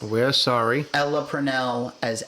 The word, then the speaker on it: Ella Purnell: So I'm sorry that I have pronounced We're sorry. Ella Purnell as Ellie Purnell every now and then.